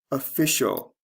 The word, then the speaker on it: official: two parts noun office official the stress changes from first to second syllable notice the ending changes